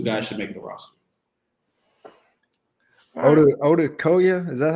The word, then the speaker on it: Odukoya: It's Odukoya. Well, we've heard about 5,000 pronunciations of Tua's name since he was a freshman in college.